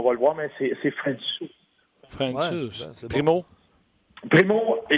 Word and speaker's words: Francouz: La seule fois que je sais sur Francouz, comme tu dis, c'est que ça se prononce Francouz.